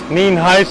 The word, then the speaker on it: Nienhuis: Sheriff Nienhuis, it's spelled Nienhuis, and it is pronounced Nienhuis.